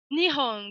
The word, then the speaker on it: Nihon: Donc là, je vous ai mis une phrase simple, j'aime le Japon, Nihon ga suki desu. Sachant que Nihon, avec un H imprononcé, c'est le Japon, et ga suki desu, ça sera une expression toute faite pour dire j'aime quelque chose.